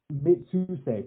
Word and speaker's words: Mitsuse: So then the next note has Ryu, and how No, do you pronounce his Rio. last name? Rio? I'm done, man. Rio. Mitsuse. Mitsuse, perfect.